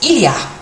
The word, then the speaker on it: il y a: So to say what there is, or there are, you say il y a, and when you say it fast it sounds like ya.